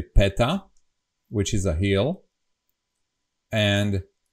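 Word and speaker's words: päta: We have this special word, as I said, a wide "a." So it should be pronounced as peta, but we don't care, we say peta.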